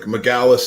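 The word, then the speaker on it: Magalhães: Because I was like, is it Magalhaes? Is that what it is? Magalhaes, right? I mean, I can get away with Magalhaes, you know what I mean? But like McGallis is the proper pronunciation.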